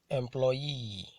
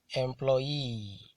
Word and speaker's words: employee: Polysyllabic words that end with EE, QUE, ERE, ADE, ESE, ETTE, and NOON are usually stressed on the ultimate syllable. Ultimate syllable, that is the last syllable in a word.